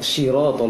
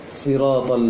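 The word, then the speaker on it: صراط: Di ayat ke-6, ihdina syiratal mustaqim, terbaca syira tadi. Namun ayat setelahnya betul pengucapan shadnya, siratal ladzina an'am. Sebenarnya hurufnya sama. Maka perbaiki pada ayat sebelumnya tadi, ihdina syiratal mustaqim, seperti baca siratal ladzina an'amta alaihim. Baik, itu masukan untuk Zahra,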